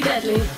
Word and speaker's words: Deadlie: Featuring MC Deadlie. MC Deadlie. D-E-A-D-L-I-E. Say my name out loud, I'm deadly.